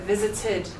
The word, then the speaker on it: visited: I visited my aunts. How's my pronunciation? Visited. Tid. Good, because it ends in a T, so tid.